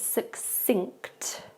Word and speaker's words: succinct: This is quite difficult because we have the ng sound at the end, so it's succinct instead.